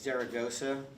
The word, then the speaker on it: Zaragoza: I don't like saying it too much because they think like I know Spanish when I say it like that. So it's Zaragoza.